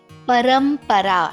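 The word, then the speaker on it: परंपरा: you must be wondering sometimes i say ma majority of the times i say no that is anja but here i say param para there is a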